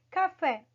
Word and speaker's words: café: Então, nós temos aí café. Fé tem aí o acento agudo na última, tá? Na última sílaba. Por estar na última sílaba, ela, queridos, vai se chamar o quê? Oxítona.